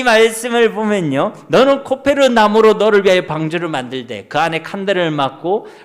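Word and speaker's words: כֹּפֶר: 코페르. 이제 진짜 난이도 높은 건데, 칠하다가 히브리어 뭐라고요? 카타르요? 카파르. 그러니까 이 말씀을 보면요, 너는 코페르 나무로 너를 위하여 방주를 만들되 그 안에 칸들을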